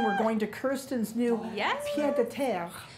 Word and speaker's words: pied-à-terre: We're going to Kirsten's new pied-à-terre. Pied-à-terre.